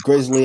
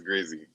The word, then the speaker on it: Grizzy: So people will think it's Grizzly. I'm like, nah, it's just Grizzy. It's Grizzy.